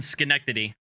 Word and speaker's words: Schenectady: um okay so this is in schenectady which is how that's pronounced um and she's demanding to go to